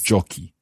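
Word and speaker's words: giochi: like so joko joki the joko form is co but jockey becomes c h c it sounds as it would normally sound joko jockey but we just need to add in that h in order for the c to stay strong then the he share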